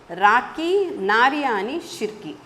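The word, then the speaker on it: Rakhi Nariyani Shirke: rakhi the poetess is rakhi nariyani shirky should be pronounced well rakhi nariyani shirki she is a poetess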